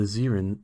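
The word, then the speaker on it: Zerrin: Anyway, I'm a member of the Zeren species. It's spelled Z-E-R-R-I-N.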